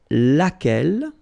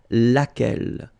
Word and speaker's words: laquelle: So basically same rule, QU, U is not pronounced here, and then you've got this double L-E, well, phonetically here, it is the same as what we have here, so laquelle.